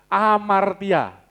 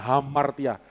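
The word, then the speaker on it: ἁμαρτία: Amartia. Kadang ada yang bacanya hamartia. Orang Yunani itu itu memang ada tonos satu tanda yang tanda baca itu H memang. Tapi orang Yunani enggak bisa H kayak orang Jawa.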